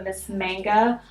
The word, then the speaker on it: Miss Manga: It's by L'Oreal, the Miss Manga Voluminous, that's how you say it.